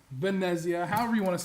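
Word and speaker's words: Venezia: um on board the Venitia, Venetsia, Vanessia, however you want to say it. It's pronounced Vanetsia. Um there's no T. It's silent, but uh it's there.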